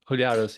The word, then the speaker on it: Huliaros: Is that how you pronounce it? Oh, it sounds well. Huliaros, yeah.